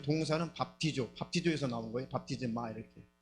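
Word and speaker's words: βαπτίζω: 자, 저게 밥티조라고 읽습니다. 밥티조 한번 따라서 보겠습니다.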